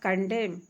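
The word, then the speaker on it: condemn: और इसके बाद कंडेम, कंडेम में भी एन साइलेंट है, इसका अर्थ होता है निंदा करना, दंडित करना, दोषी ठहराना।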